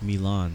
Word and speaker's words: Milan: Holding short runway 17 It's pronounced Milan.